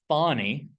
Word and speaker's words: Thonny: And there's an IDE, an integrated development environment called Thonny. Not sure how they came up with that, other than it's kind of rhymes with Python.